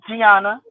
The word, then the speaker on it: Gianna: Because I keep saying Gianna, but I mean, I know I'm not saying it right. It's Gianna.